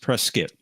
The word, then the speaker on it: Prescott: It's pronounced Prescott, not Prescott.